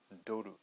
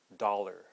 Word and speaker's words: dollar: Okay, so again, we don't have the true O sound. We have the flat O, the da.